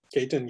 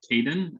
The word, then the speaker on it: Ketan: Ketan, you got anything to add? Yeah, I'm probably the same. My pronunciation of my name is probably a little bit harder than most. It's not Ketan, it's Ketan.